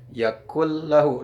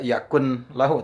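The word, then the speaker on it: يَكُن لَّهُ: disitu ada Yakun lahu tapi dibacanya tidak Yakun lahu tapi yang kulahu dimasukkan Nah itu hukum bacaannya adalah idgham bilagunnah idgam itu ada memasukkan huruf kepada urf yang lain Hai tanpa disertai dengan guna-guna Hai tidak didengungkan bacaannya harus ditasydidkan Hai cara membacanya wallem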